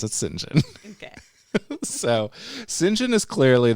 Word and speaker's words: St John: not talking about St John the Baptist it's pronounced singen anyway singen he's a guy I cannot wait to be